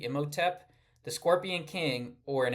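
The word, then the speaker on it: Imhotep: First, this first one I don't even know how to pronounce. Immoteep. I m h o t e p. Ioteep.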